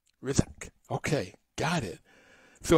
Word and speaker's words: Hrisak: Is it Risa? Rizak. Rizak. Silent okay. H and an S that sounds like a Z. Rizak.